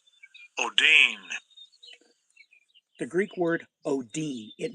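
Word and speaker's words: ὀδύνη: Let's take a listen to of how this word is pronounced in Greek. Strong's G5604 odyne odyne The Greek word oodyne, it means contraction.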